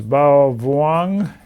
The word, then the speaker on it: Bao Vuong: And my guest tonight is Bao Vuong. Is that correct pronunciation?